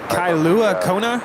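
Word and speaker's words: Kailua-Kona: Is it Kailua Kona? Is that how you pronounce it? Yes, you are correct, sir.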